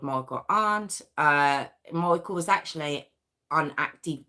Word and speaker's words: Arndt: And October's biological dad was actually a man by the name of Michael Arndt. Now it's ARNDT. It's quite hard to pronounce, but I'm pronouncing it Arndt.